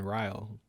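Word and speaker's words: rial: lowest currency is iranian riley spell it iranian right rile it'd be like dial but with an r instead of a d oh really this this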